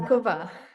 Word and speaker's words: Mazankova: Mazankova, did I say that right? How do I pronounce it? Mazankova.